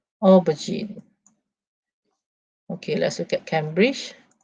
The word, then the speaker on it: aubergine: open this okay okay so look at the pronunciation okay let's listen okay aubergine aubergine okay let's look at cambridge because cambridge is